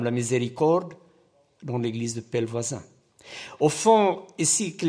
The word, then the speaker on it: Pellevoisin: Heart, cœur, France, comme il y a prié pour la France, et Pelvoisin, Notre-Dame de Pelvoisin. Mais au début, il y avait un problème pour lui de prononciation. C'était Pelfocine.